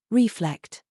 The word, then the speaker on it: reflect: a softly abandoned reflect emphasize the second syllable reflect practice questions asterisk one